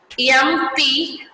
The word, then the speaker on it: MP: We say MP or an MBA and not a MP or a MBA, because M is pronounced as a EM, which is a vowel sound.